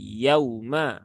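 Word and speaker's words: يَوْمَ: Tetapi jangan sampai terlalu lama karena beberapa ada yang kita amati ya, kita menemukan ketika ada ya sukun atau waw sukun, dia membacanya terlalu lama. Yauma. Nah, yauma. Nah, itu kurang tepat ya. Jadi cukup tunaikan saja satu harokat dari waw yang sukun.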